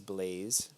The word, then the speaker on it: l3layze: My Twitch channel is l3layze, pronounced as Blaze.